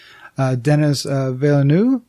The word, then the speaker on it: Denis Villeneuve: release God is not directing the sequel it's denis villeneuve is our pronounced right our close a close closer than